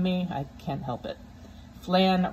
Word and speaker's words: flan: i can't help it flan rhymes with can it's spelled the same way you can make flan